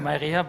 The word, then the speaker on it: MyReha: Are all the pronunciations correct? Yes, almost. Yeah? MyReha, but the rest was correct.